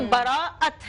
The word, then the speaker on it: براءت: کچھ لوگ شب بیرات بولتے ہیں, کبھی کچھ لوگ برات بولتے ہیں, تو براءت ہے اس کا صحیح تلفظ.